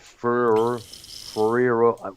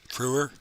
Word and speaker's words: Frewer: Matt Ferrero. Am I pronouncing his name right? Frewer. Frewer. Yes, I'm that's not the guy familiar with him.